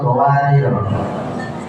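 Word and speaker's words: قوارير: Sebutkan cara baca lafal qawarir.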